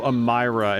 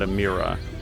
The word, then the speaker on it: Ammyra: I don't think I would have come to Ammyra as being the pronunciation. I probably would have said Amir.